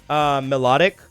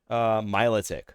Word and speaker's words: Milotic: I always pronounce it melodic. I've always pronounced it melodic. I found that like 50% of the population literally calls it Milotic.